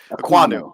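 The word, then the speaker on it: Ekwonu: pronounced it right earlier. Aquanu.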